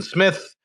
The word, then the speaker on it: Smyth: It's kind of spelled funky without the E at the end, but I do pronounce it Smyth.